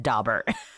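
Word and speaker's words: Daubert: and by the way we're laughing because it's pronounced Dober Dober and BR got all fancy on us you see yeah there's one person who pronounces it doar and I'm stuck on it anyways so in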